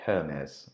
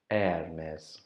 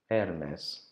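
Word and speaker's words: Hermès: this brand it's like Hermes and this is what I've been calling it her mez but in French they don't really say the H so we should pronounce this Airness Hermes and there's it's another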